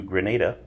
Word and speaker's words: Grenada: quick stop and then continuing to Grenada yep I said it right continuing to Grenada where